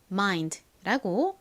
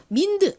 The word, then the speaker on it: mind: I는 여기서 장모음 소리인 I 소리로 쓰였어요. 그리고 N은 니은 소리 나고 끝에 D는 디귿 소리, 드 소리 나서 mind라고 발음합니다. 이 단어를 처음 접하면 이 I를 E로 읽어서 mind 이렇게 잘못 읽으실 수 있는데요. I가 이 발음 아니라 I 소리 나서 mind라고 읽는다는 점 유의해 주세요.